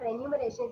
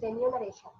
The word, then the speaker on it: remuneration: word like that okay so many people would pronounce the word remuneration as remuneration it is not renumeration it is remuneration okay and sometimes we tend to do that